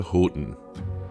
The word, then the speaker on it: Houghton: A quick drive through Lance, we're on our way to Houghton, and you have to say it like that.